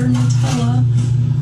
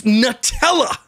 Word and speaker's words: Nutella: It's Nutella, not Nutella, by the way. And if you say Nutella, we can't be friends.